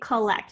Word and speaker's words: collect: Collect, people don't say collect, they say collect. So whereas in lect, I can hear that nice short E sound, lect. It's a closed syllable, I hear the short E, but in ko, I can hear that sound again. The schwa is in the first syllable, spelled with an O.